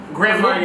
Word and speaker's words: Grand Marnier: Grand Marnier. Listen, I just... Did I say it right? Yeah. Grand Marnier.